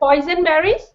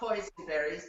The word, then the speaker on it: boysenberries: Boysenberries? Boysenberries, not poisonberries.